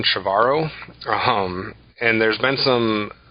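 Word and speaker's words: Trevorrow: name right but cuz I always want to say tomorrow but it's Colin chavarro um and there's been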